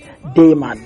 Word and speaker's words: Damion: Dayman, like broad daylight.